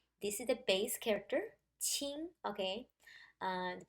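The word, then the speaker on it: 晴: to provide the sound, so this character pronounced as qing. The pronunciation is the same, but the tone becomes a second tone, qing, instead of qing for sunny.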